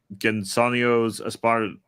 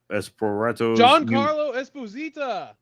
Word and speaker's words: Giancarlo Esposito: reshoots were undertaken earlier this year to incorporate Gensonio's Esparatos. Giancarlo Esposito.